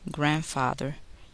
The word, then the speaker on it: grandfather: The letter D is silent in the following words. Wednesday, grandfather, grandmother, grandchildren, handkerchief.